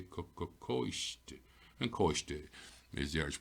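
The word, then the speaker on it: coiste: And now I can see back here, my O for tells me my C is a broad K, koisht.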